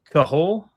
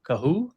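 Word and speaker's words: Kohou: Is it Kater Cahul? Is that right? Cahoo.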